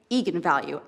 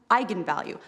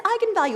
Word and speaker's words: eigenvalue: the director, said, yes, that is how you pronounce it. So I went out there and said, that's right, eigenvalue. And then apparently the internet went nuts when it came out, because apparently it's pronounced eigenvalue.